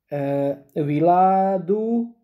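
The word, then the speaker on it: wiladu: The H here is not pronounced, or viladaha. But in Egyptian Arabic, H is not pronounced here, ha is not pronounced here, and also ha is pronounced with a short, viladu and viladha, with a short.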